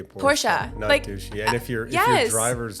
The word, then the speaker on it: Porsche: into it to make it cool to say Porsche and if you're yes drivers don't really know